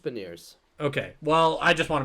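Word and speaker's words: Beniers: them like Matty bener benier I hate saying that last name I always say it wrong benier is that right is it not B is it not bers is it bers I think it's just been years okay well I just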